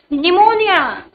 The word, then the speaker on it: pneumonia: Pneumonia. Pneumonia. Pneumonia. P. P. P. Very good. P is the silent letters.